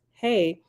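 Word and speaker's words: ה: letter of the illustration another letter hey pronounced hey is the Divine daughter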